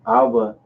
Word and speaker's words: Abba: Remember, Abba is Father. Abba. Damn. Abba is Father, right? Abba So Nawa. you say our Father, Abba Nawa. Because in Hebrew, so you go right to left. So Abba is Father.